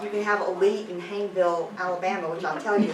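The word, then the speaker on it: Hayneville: hanville Alabama um and they pronounce it hanville there not hanville umon they have they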